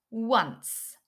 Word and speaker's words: once: It's once. So there is a silent w in once. W. The O is making an sound. W, once.